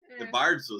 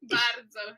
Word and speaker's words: bardzo: Bardzo. A gente fala bardzo. Bardzo. Tem que tremer o R aqui.